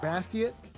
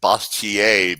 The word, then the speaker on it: Bastiat: I've always pronounced it Bastiat because it's French, but Bastiat sounds, yeah, so it's the same thing, right?